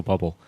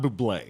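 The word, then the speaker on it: Bublé: who's a fan of as I called it Michael bubble Buble I'm like why do i but it's it looks like bubbles she's like no it's pronounced Buble and I'm like -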